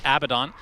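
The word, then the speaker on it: Abaddon: seen a ton of a badden since I actually pronounce it correctly there by accident my bad abidon since they made these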